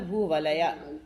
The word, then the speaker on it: भूवलया: भूवलया अपन लोग भूवलय बोल देते ना, भूवलय सही नहीं है, वो हलंत है या भूवलय, आ का उच्चारण होना चाहिए।